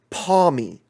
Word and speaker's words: Pawmi: This is, let me make sure I pronounce his name correctly as well. This is Pawmi.